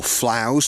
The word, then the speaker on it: Flows: BG and loving it the flow country or flows to use the local pronunciation became a world heritage